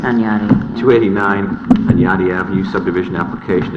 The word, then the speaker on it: Hunyadi: Next item to recommend a public hearing, 289 Hyundai Avenue, subdivision application of 289 Hunyadi Avenue, subdivision. Your Worship, Pronounced Tanyati.